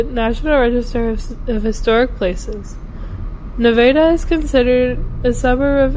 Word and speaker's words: Nevada: Welcome to Nevada, Iowa. Yes, the town is pronounced Nevada.